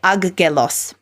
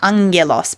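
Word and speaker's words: ἄγγελος: so but you notice I didn't say AG gelos I said Angelos because two Gammas in a row it makes the sound as opposed to two hard G's so a hard G is like G like the G in golf but if you have two Gammas together the first one gets nasalized and so it's like something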